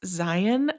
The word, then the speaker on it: Zion: that's not from Utah, Zion is not how you say it, apparently. Um, when I first moved here, I was talking about Zion National Park, and my husband's aunt corrected me and said it's Zion like Lion.